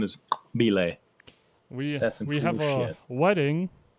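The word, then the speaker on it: !Xobile: was dealing the cards his name was spelled like exclamation mark x o b i l e the dude's name was Bay he's like dude had a click in his name it was Bay and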